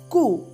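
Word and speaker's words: ko: In Danish, cow is ku. We can say cow as ku in Danish.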